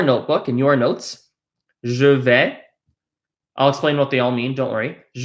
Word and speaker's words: vais: Anytime you see an A and an I next to each other, except for an AIN, it is pronounced eh.